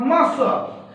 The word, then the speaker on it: muscle: और क्या होता है, एंड one notable exceptions are, another exception is what muscle, MUSCLE, what we pronounce here, muscle power, you